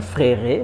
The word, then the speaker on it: frère: Há pessoas que dizem, eu vejo nas aulas algumas vezes, ao tentar pronunciar o frère, falam frère. Não é frère, mas é frère.